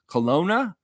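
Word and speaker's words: Kelowna: Colona, that's how you say it.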